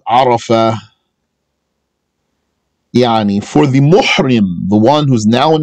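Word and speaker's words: مُحْرِم: So the one who's in the state of ihram is called muhrim. It's with a ha.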